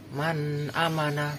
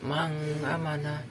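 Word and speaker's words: مَنْ آمَنَ: bertemu Hamzah Man amanah cara membacanya yaitu secara jelas Man amanah bukan manga mana itu salah sedang ke-26 sukun bertemu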